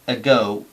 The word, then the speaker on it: ago: Sin embargo, en esta palabra, ago, ago, ago, hay una parada para hacer la G, digamos.